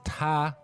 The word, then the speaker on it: 他: Okay, so this ta, first tone, means he.